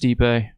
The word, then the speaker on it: Stipe: By the but- way, we know it's pronounced Stipe.